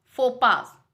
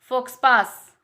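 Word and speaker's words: faux pas: Next, फोपास। अगर हम इसे नॉर्मली अगर कोई भी बंदा इसे पढ़ेगा तो क्या बोलेगा? फोक्सपास, फोक्सपास, जबकि ये रॉन्ग प्रोनाउंसिएशन है। करेक्ट है आपका फोपा, फोपा, जिसका मीनिंग होता है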